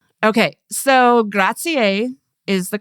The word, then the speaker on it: grazie: Americans often say things like grah-tsee or grah-tsee-ah, but in Italian you pronounce all the vowels like grah-tsee-eh, grah-tsee-eh.